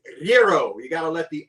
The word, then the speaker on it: gyro: in all actuality it's gyro you got to let the r g is silent and you got to let the r roll today we're making gyros